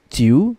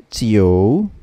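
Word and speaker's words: 九: so the same rule every time we have opinion that has a letter i and letter u we have to add an additional letter o in the middle so this will not be read as q but rather co co co okay so what will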